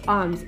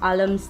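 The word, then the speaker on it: alms: ही सी दम आ इट्स आर्म्स L silent है अलम्स नहीं इट्स आर्म्स इसे गिवन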